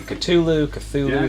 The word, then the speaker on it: Cthulhu: You just learned Or how to at least pronounce what I Cthulhu.